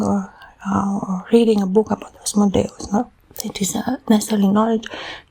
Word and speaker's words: Asmodeus: We see it even in his name, Asmodeus. We have two sounds, no, in 4 syllables. So Asmodeus, no?